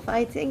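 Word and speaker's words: 화이팅: Fighting. So in English or Indonesian, you pronounce it fighting.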